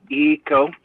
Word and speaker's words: Ico: And it's ECO, even though it's spelled ICO, which ECO is a spiritually gifted name to me.